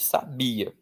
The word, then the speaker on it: sabia: esse padrão de letras, um brasileiro vai olhar para essa palavra e vai dizer que aí está escrito sabia. Tudo bem? Mas e se eu quisesse escrever sabiá? E se eu quisesse escrever sábia? Bom, aí com esse padrão de letras que eu tenho nesta palavra, eu não poderia contar só com as letras.